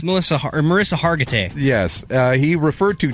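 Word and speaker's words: Mariska Hargitay: knuckle tanner referred to an suv actress as marissa block and harkenheimer it's melissa marissa hargitay yes uh he referred to tommy two to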